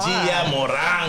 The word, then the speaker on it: Gia Moron: Okay, well, before we start, you got to say my name right. I tell you what I say wrong. How are we going to be Latinos in the room and you don't even roll the R?